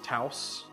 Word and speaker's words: Taos: But this is up in, I think it's pronounced Taos. Yeah, it's Taos.